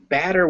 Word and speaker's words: batter: So batter with an A, that vowel is ah, and you make it. It's your mouth is open and your tongue is low. So it's at the front of your mouth and the bottom.